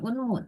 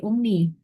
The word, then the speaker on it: Umni: Bukan Unmu, tapi Umni.